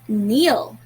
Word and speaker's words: kneel: to spell the word neil you're right neil is spelled as k n e e l if you have noticed not all letters were sounded k was silent it wasn't red at all so it was just